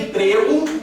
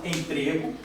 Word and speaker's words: emprego: Aqui a gente tem um um ezinho fechado, emprego. E aqui a gente tem um ezinho aberto.